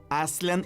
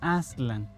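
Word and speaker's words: Aztlán: Lo mismo pasa con Aslan, que sería la pronunciación más cercana con Aslan.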